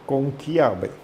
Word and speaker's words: conclave: Conclave en italiano que es conqulave.